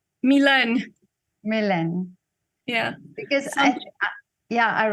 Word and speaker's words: Milène: but first I want to know do I pronounce your name right Milan Milan yeah because yeah I write on your